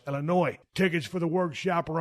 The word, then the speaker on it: Illinois: I know it's actually pronounced Ill-i-noy.